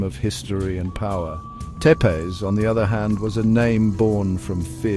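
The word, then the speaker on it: Țepeș: His other famous name, Tepees, pronounced sep later and was given to him by his enemies.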